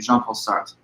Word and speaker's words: Jean-Paul Sartre: a French philosopher and his name is French jean-paul Sartre sometimes it's hard for us english-speaking Americans to pronounce those French ours a very guttural soft kind of our I guess but that's his name jean-paul Sartre now this concept existentialism is kind of the